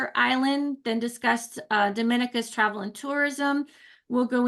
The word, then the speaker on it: Dominica: oh we call it Dominican it is spelled D o m i n i c a it is not Dominican Republic it is pronounced Dominica and is situated between